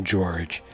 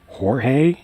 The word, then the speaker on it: Jorge: very clearly in the game his name is pronounced George I always get the actually Jang it's pronounced Jorge everybody knows that so there we go Spartan